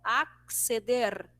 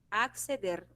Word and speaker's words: acceder: Em espanhol é evidenciado cada letrinha, né? Ó, acceder, acceder. Então, todas as palavras que vierem com R ao final, a gente precisa vibrar a língua para que saia a pronúncia certinha, beleza?